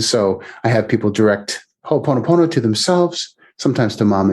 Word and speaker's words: ho'oponopono: what what is it called in hawaii yeah ho oponopono oh i have to spell it for you yeah it's h o